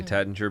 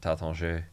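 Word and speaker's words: Taittinger: is like the teder I say Tater because that's what everybody says here they pronounce it taton tat but I sound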